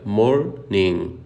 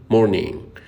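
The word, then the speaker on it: morning: جود مورنينج جود مورين بص على نط الاي ان جي اللي في اخر كلمه مورين بننطق كده مورين مورين واخد بالك مش بندوس على حرف الجي هتظهرلك صوره حالا علشان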